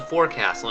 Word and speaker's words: forecastle: is it called so I want to call it the forecastle and everyone is using two syllables forecast forecasts I'm just